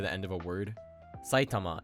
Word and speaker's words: Saitama: Saitama is pronounced atamadaka in isolation, but it becomes Saitamaken and Saitamashi when the classifier is added.